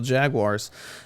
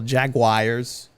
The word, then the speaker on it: Jaguars: Green Bay Packers over the Jacksonville Jaguars. As some people incredibly inaccurately pronounce the Jacksonville Jaguars. It's not the Jaguars, it's the Jaguars. Jaguares, not Jaguares.